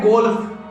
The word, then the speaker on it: golf: अगला वर्ड है गोल्फ, GOLF। यहाँ भी L साइलेंट नहीं होगा, F से पहले L तो आ रहा है लेकिन L से पहले